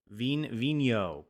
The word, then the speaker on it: Vigneault: Vigneault, Kyle Vigneault.